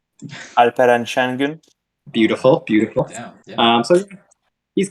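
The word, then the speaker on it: Alperen Şengün: Batu, you want to pronounce the name? Alperen Sengun.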